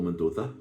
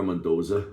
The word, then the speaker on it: Mendoza: One of which was the Whitesnake bassist, Marco Mendoza. Again, Marco Mendoza, most people will say, but you have to pronounce the Z correctly.